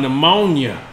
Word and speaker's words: pneumonia: He gave you silent P words. Like psychic. How about pneumonia?